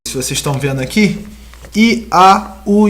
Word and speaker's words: IAOU: Eles colocaram o YHWH em hebraico e ao lado botou a sua pronúncia da sua transliteração, ou seja, botou o I, A, O, U, Iau, entendeu?